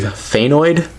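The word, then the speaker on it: Fangoid: it's pyrus obviously okay this is I believe thanoid it's one of the newer ones I think it's spelled f a n g o i d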